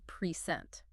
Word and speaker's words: present: So a gift you give someone is a pr eent, but the act of showing them something is to present.